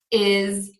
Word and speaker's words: is: And these words are often pronounced with a Z. So we have the word has, is, was.